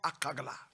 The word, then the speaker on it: Akagla: John Harley was born on the 9th of May in 1919 in the Volta region in a village called Akagla. A-K-A-G-L-A, Akagla, in the Volta region.